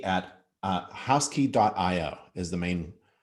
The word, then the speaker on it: Housky: house dot io and that's h o u s k y dot i o yes and it's house key at uh house key dot io is the